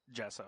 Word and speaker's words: gesso: obscured by layers of white gesso is that how it's pronounced yeah jessa a haunting somber reflection